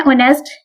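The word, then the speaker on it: honest: अब ये किसकी साउंड कर रहा है, वॉल की साउंड दे रहा है, हो स्टार्ट ये कॉन्सोनेंट से रहा है, लेकिन इसकी साउंड कौन सी है, वॉल की दे रहा है। यहाँ पे एज क्या है, वो साइलेंट है, तो इसके साथ क्या लगेगा, एन।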